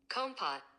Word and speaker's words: Kompot: Okay, now let's see how to pronounce it. Compot.